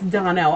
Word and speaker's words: Donnell: It's Donnell, and I'll spell that.